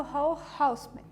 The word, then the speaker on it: Raoul Hausmann: O tema da aula de hoje é a colagem tridimensional novamente, e a gente vai focar num artista chamado Hall Houseman, pronúncia alemã, né?